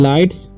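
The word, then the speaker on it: lights: Okay, of, ऑफ, ठीक है, लाइट्स, इसे पढ़ेंगे हम लाइट्स। ठीक है, जी एच जो है यहाँ पर साइलेंट है। ठीक, तो लाइट्स पढ़ते हैं।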